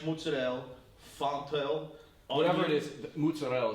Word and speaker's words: mozzarella: But what this pizza is garlic, basil, fresh mozzarella, fontel, whatever it is, mozzarella is the right way to say it.